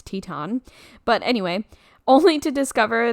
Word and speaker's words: Teton: way I did not know that's how you pronounce Teton but anyway only to discover that there is